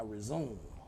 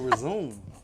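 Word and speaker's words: résumé: I need you to help me with my resume. Yo, what? The what? Your resume.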